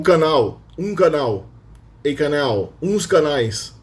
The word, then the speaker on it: canal: So typically we have canal. The L itself is pronounced more like a W.